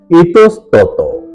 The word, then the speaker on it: ইতস্তত: সঠিক এবং শুদ্ধ উচ্চারণ হল ইতস্তত ইতস্তত এর সাথে অকারান্ত উচ্চারণ ইতস্তত এবারে 48 নাম্বার মূল